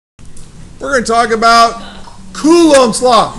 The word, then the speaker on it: Coulomb: We're going to talk about Coulombs Law. Now, here's how you say it. Coo, like he's cool. Ohms, like he's meditating. Or like you're combing your hair.